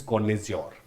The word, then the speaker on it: connoisseur: The right pronunciation is कॉन्नेज्योर।